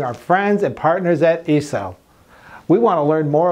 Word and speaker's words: ICEL: Okay doc, so the pronunciation of ICEL is in the Italian way. Just read how it's written. ICEL, it is the acronym of Industria Componenti Elettronici, which means Electronic Components Industry.